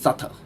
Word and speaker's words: subtle: subtle no it's just subtle it's like people um talk about depth you know yeah owing money but the silent b again dead yeah and you're